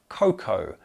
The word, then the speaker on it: cocoa: It is pronounced cocoa.